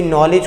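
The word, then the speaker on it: knowledge: जैसे कोई नॉलेज को नॉलेज भी कहते हैं, तो के को अगर पढ़ देंगे तो वो क्या होगा, वो हमारी प्रोनंसिएशन गलत हो जाएगी। लेकिन अगर हम उसको पढ़ेंगे नहीं तो वो हमारी प्रोनंसिएशन क्या होगी, बिल्कुल एक्यूरेट होगी।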